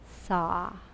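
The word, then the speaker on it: sah: your next natural exhale repeat the syllable saw s a h imagine the mantra so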